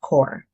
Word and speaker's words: corps: The P and S are silent, so it's pronounced core.